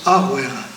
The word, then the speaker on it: Rouer: Alors on écrit Rouer, mais on prononce Arouer.